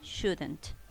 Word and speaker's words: shouldn't: Should and shouldn't. Por favor, recuerde bien que para el tema de pronunciación omito la L en ambos casos, ¿no?